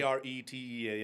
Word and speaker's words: Arete: Arete, I think I was mispronounce it the a r e t t e or something. a r e t e a That's it.